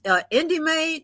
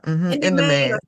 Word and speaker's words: In Demand: Indie Maid, is that how you pronounce it? Yeah. In demand. In demand. They kind of play on words.